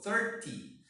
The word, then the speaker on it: thirty: do that for example for the teens the stress is in the syllable teen so thirteen team is number thirteen fourteen fifteen okay for this one the stress is on the first syllable thirty thirty forty fifty sixty